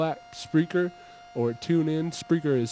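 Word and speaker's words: Spreaker: download the mobile app spreer or tune in spreer is spelled SP s p r e a k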